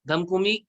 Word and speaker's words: धमकुमी: धमकुमी को प्रोनाउंस करेंगे ध से धनु, ठीक है, म से मकर, कु से कुंभ, और मी से मीन, धम कु मी, धम कु मी।